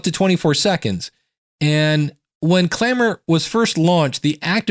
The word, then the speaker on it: Clammr: Clamor is spelled Clammr.